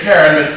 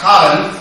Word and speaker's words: Karen: The premise of the book is Meryl Streep's character, Colin, we would say Karen, but it's Dutch, so it's pronounced Colin.